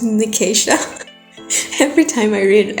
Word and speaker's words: Nicasia: was calling I was calling her Nasia and it sounds so weird now that I say it out loud, but that's how I sing in my head. And I looked it up and it was Nicasia.